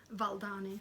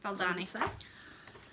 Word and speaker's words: Valdani: So this is my Autumn Quaker by Rosewood Manor, using the prescribed threads, which are Valdani? How do you pronounce that? Valdani. Valdani.